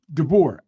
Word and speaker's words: DeBoer: Man, you think, okay, how you pronounce Deboer, whatever his name is? Deboer.